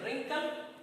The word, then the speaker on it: wrinkle: Okay, third number column you see the pronunciation wrinkle, wriggle and right. ये तीनों का जो pronunciation है wrinkle, wriggle और right, here W, W and W, all 3 W's are silent here.